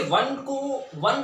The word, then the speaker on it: one: कैसे लिखेंगे इसको, वन बोलते कैसे हैं, इसको प्रोनाउंस कैसे करते हैं, वन, राइट, वन। तो वन यानी कि व।